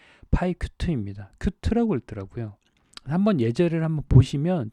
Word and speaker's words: Qt: 큐트라고 읽더라고요.